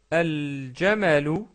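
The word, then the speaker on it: الجمل: shadda et en plus on va prononcer le lam du L qu'on rajoute. Par exemple, al-jamalu, al-baytu, al-ghazalu, al-fa'ru. Donc remarquez que j'ai toujours prononcé le lam et il n'y a pas de shadda sur ces lettres-là.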